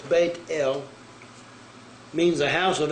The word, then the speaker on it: Bethel: yahweh word bethel or they got bethel it's bait el means the house of l the number there